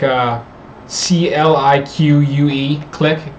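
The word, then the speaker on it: Clique: like a CLI quue click is how it's pronounced but it's not spelled click it's the mouse over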